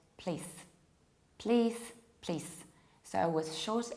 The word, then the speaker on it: please: Whereas the correct pronunciation is please in British accent and please in American accent. So E is much longer and Z or Z in American accent is there. Audible, we can hear it. Not please, please.